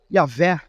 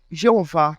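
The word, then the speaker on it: Javé: Então, um nome conhecido como Yav ou Yavé, popularmente Jeová, mas não é uma boa pronúncia.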